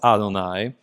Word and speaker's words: Adonai: 3rd century where um Adonai, the generic word for lord, came to be read in the place of God's actual name.